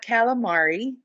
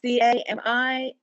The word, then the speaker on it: Camilari: It's not calamari. It's Camilari. And if you think of it's A-I-L. So it's Camilari, but it is pronounced Camilari.